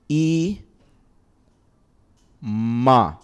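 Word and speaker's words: אמא: to start slow e e Ma alef is silent so you can't give it a property you can't give it a vowel sound it's just e ma would it be the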